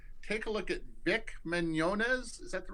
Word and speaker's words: Mignogna: lose your mind take a look at vic Mignogna is that the right way to pronounce it that's right yeah vic Wynonna's Star